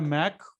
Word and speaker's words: Mach: जो धनेन्द्र जो आपका मैक होता है, उसकी स्पेलिंग होती है MACH, ये होता है मैक।